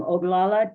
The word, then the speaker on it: Oglala: Charmaine is, and you're going to have to excuse my pronunciation, Charmaine Oglala. Oglala. Just say the whole thing. I am Oglala Tituwan Oceti Sakowin.